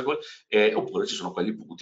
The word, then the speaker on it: call: dicevamo, anche qui vedete abbiamo la possibilità, no, di selezionare quelli long, si chiamano call, cal, è scritto cal, no? Ma si pronuncia call, oppure ci sono quelli